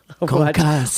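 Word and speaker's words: concassé: In kitchens, we say concasse.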